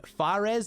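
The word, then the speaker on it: Fares: But we have Faze, I believe is how you pronounce it, F-A-R-E-S.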